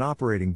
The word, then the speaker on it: operating: is in this case the accent is in the first syllable corresponding to up below are other ways